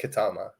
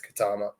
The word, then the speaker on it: Ketema: You wouldn't think that's like pronounced Katama, but they show you that how to pronounce it. It's Katama.